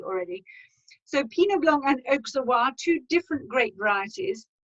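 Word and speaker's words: Auxerrois: is pinot blanc and oksawa we pronounce the x in our sas pinoblong oksawa now this is a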